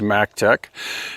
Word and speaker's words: Maectech: So, two things just quickly before we get into the drive test, and that is proper company pronunciation is Mac Tech.